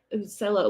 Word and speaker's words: cello: Yeah, I think they're pronounced cello, like cellophane, cello bags.